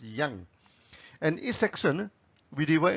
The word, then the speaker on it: yang: people produce it at yank it's up to you but in the original chinese pronunciation it's pronounced as yang and each section we